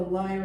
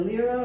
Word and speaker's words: lyra: I bet a lyre has never been played this way. Do you call it a lyra or a lyre? This is a lyra, Lyra. or it's pronounced lyre as well.